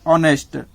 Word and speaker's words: honest: लेकिन ध्यान रखना है उच्चारण, ध्यान में रखना है उच्चारण को। जैसे कि ऑनेस्ट, HONEST, ऑनेस्ट, ऑनेस्ट में इसका उच्चारण ओ के जैसा होता है, ठीक है ना, तो इसीलिए इसमें ए एन लगता है।